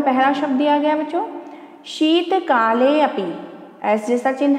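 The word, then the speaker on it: शीतकालेऽपि: एस जैसा चिन्ह है, पुनः स्मरण करवा दूं, एस जैसे चिन्ह को बोलते हैं अवग्रह चिन्ह और इसका उच्चारण ऐसे किया जाता है। तो सुनिए आप लोग, शीतकाले अपि, शीतकाले अपि।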